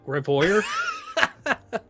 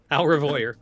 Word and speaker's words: au revoir: Revoyer? Au revoir.